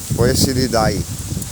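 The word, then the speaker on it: Poeciliidae: Poicilidai. eh, como se fala cientificamente, mas popularmente é conhecido como foi esse vídeo.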